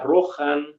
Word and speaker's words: Rohan: ejemplo eh la palabra rojan o el plural ririn esa H que tenemos en medio era antes una ch o sea roj en ro